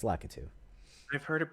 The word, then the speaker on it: Lakitu: Lakitu, or it's not Latiku, right? It's Lakitu.